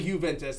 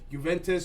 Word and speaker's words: Juventus: it was jew um it's pronounced kind of both ways that's primarily juventus that's how most people say it but i've heard it the other way too where it's like tomato tomato juventus juventus but it's juventus that's